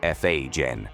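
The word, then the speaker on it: Fagen: If you weren't flawless, Walter Becker and Donald Fagan, pronounced F A Jen, fired you midsession.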